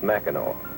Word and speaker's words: Mackinac: the country ever visit Mackinac Island up here at the end of Michigan no it's not too far from here you take a boat over it's the place that spelled Mackinac and pronounced Mackinaw why is that I've